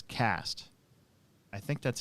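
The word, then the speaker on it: Quast: and i think it's cast i think that's how you pronounce it otherwise it would be quest or quest i think it's cass though kyle cast and it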